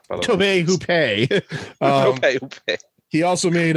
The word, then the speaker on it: Tobe Hooper: Tobe Hooper.